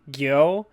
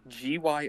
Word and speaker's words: Gyo: I think Gyo, Gyo. Gyo. Okay. Yeah, that's how you spell it.